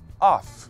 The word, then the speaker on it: of: Então você vai falar off. Já o OF é a preposição, pode ser a preposição de, do, da, dos, das. Só que a pronúncia desse OF, o F vai ter um som de V.